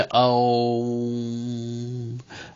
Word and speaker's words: ओम: जैसे ओम, ओम, तो ओम शब्द जो है 3 शब्दों से मिलकर बना है, अ, ओ और म।